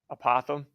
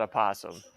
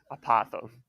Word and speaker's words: apothem: made is called the anybody want to try to apothem a Pithom no it is not a possum it is just a apothem all right it's not